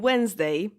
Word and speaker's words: Wednesday: Even though wed is in Wednesday, not in the pronunciation though, because it's English.